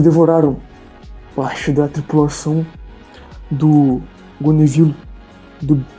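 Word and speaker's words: Gonneville: Binor Palmeir de Gonevilo. Gonevilo se escreve G O N E V I L L E.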